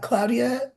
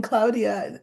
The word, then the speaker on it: Claudia: uh shanam says and I'm saying Claudia it it's um I'm pronouncing it in the way that you would if you were Spanish speaking we would say Claudia here but it's Claudia Claudia Shin bam said said